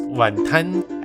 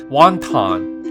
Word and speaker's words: wonton: They're pronounced wantan as in 1 ton of bricks, not wonton like wonton destruction.